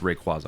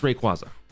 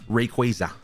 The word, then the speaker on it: Rayquaza: By the way, it is pronounced Rayquaza. I don't care what anybody says. I don't even care what Pokemon says. It's Rayquaza. It's not Rayquaza.